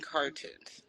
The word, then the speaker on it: Car2unes: But yeah, so how did you come up with your name Cartoons? Am I saying it right? Yes. Yes, you were saying that correct.